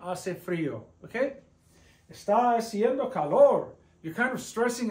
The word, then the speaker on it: haciendo: The H is always silent. It's as if it doesn't exist. So this A and this A blend together and it's pronounced gliding together.